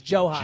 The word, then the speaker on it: Jhoan: So, it's not Joan. It's Joe. It's like Johan with a J. It's Johan.